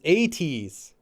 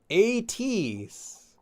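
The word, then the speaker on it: ATEEZ: ATEZ is pronounced as ATs. ATs. Okay. ATs. Not like the 1980s, but like ATs.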